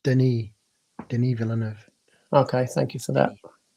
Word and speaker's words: Denis Villeneuve: Oh, by the way, it's pronounced Denis Villeneuve.